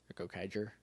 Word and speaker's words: Gokaiger: But I want to start, I want to watch Gokaiger and Gokaiger and Soft G. Yeah. Yep. Like Ranger.